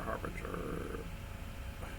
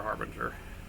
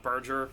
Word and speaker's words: Harbinger: 1 more gold and another harbinger. I call it Berger. I don't know why. It's Harbinger. I'm still probably pronouncing that wrong.